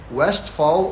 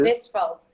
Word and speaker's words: Westphal: Eu uso o V mesmo, né, o alemão pronuncia mais de som de V, né, mas o L deles é mais acentuado, aí eu já não falo, né, que seria um Westphal.